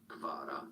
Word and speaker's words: Kvaratskhelia: It sounds like Hvicha, Kvaratskhelia. Oh, Napoli nearly score. Kvaratskhelia. So, Kvara, you can simply say, that's how most people refer to Kvaratskhelia.